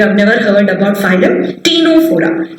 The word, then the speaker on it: Ctenophora: never heard about phylum tino4a here the c is silent c is silent it is t no forum now for the final